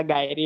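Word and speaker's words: gyri: गिरी नहीं होता, गायरी होता।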